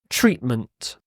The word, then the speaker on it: treatment: next word is treatment treatment when I say this word I don't really pronounce the T I almost like say treatment there's a what's called a glottal stop here treatment so if you